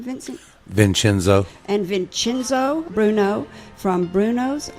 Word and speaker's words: Vincenzo: Vincenzo.